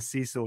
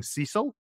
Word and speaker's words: CISO: see it I've stopped saying see so now because when my captions come up the Scottish accent it's for some reason thinks that I'm seeing Cecil like as in you know somebody's always one pronunciation of the Chief Information Security Officer and I think it